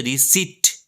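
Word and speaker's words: receipt: উচ্চারণটা কিন্তু হবে রিসিট।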